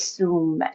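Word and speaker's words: sam: The seed syllable is sum su like mount sumemeru.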